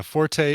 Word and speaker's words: forte: there it is yeah forte or fort both are correct you can you can uh you can pronounce according to miriam webster fort can be pronounced fort or forte but i'll bet you